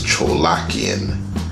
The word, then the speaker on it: Tcholakian: looked it up and found out how you pronounce his name is Tcholakian.